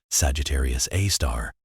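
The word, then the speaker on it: Sagittarius A*: The black hole at the center of the Milky Way called Sagittarius A, pronounced Sagittarius A star weighs about 4 million solar masses.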